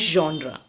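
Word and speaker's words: genre: term मैं उसे watch जॉन हा जॉन हा बोलते हैं जब हम किसी देखिए इसकी स्पेलिंग बिल्कुल डिफरेंट है जी आई एन आर ए अगर आप ध्यान दें सो इसको बिल्कुल भी डिफरेंट तरीके से प्रोनाउंस किया जाता है ये एक अलग सा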